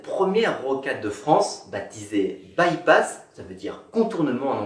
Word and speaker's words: by-pass: rocade de france baptisé bypass ça veut dire contournement en anglais à bas-lieu on le prononce by pass aujourd'hui encore il sert